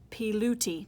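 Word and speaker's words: Pilutti: says pronounced p and that's a bag of money so that's loot and that's a cup of tea pee looty try it nice huh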